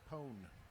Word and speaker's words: pwn: PWN is Pone. It is Pone.